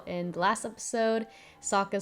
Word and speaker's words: Sokka: I do like how they're still keeping some of the same elements, like how in the last episode, Sokka said that his name rhymes with Akka, paying homage to the Tales of Ba Sing Se episode of him.